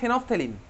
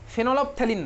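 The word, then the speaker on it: phenolphthalein: 3 নম্বর ফেনফথেলিন, এটার নাম, এটার প্রোনাউন্সিয়েশন কিন্তু ফেনফথেলিন হয়, ঠিক আছে? ফেনল অফ থ্যালিন নয়, এটার অ্যাকচুয়ালি প্রোনাউন্সিয়েশন কি, ফেনফথেলিন।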